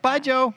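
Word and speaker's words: ByeJoe: with by joe um by joe is pronounced like say goodbye to a guy named joe like bye joe yep bye joe and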